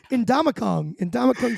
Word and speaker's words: Ndamukong: Ndamukong Suh, I think is how it's said.